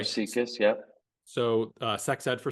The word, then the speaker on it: SIECUS: How do you? Yep. So Okay. Seekus, yep.